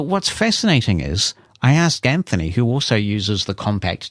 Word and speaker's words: Anthony: pronouncing Anthony's name Anthony, which is how they pronounce the name in the UK. We don't pronounce it that way, and nor does the US, and I don't think Australia does either. We say Anthony, but in the UK, they pronounce it Anthony.